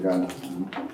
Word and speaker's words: Ghana: If you do that, nobody is going to buy it in Ghana. Chris. So you say you from Ghana, Ghana? Huh? How you pronounce where you from? Ghana.